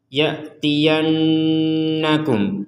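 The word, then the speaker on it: يأتينكم: Nah, di sini ada nun bertasydid. Kedudukannya sama dengan mim bertasydid. Sama-sama didengungkan atau sama-sama dibaca dengan dengungan. Faimma imma ya'tyannakum yanna yanna.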